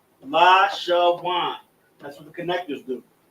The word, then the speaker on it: Lashawan: The connectors serve as pronunciation markers. Where in Lashawan right here, we have a connector on the La, connector on the Sha, and then a connector on the Wa and Na, making it Wan.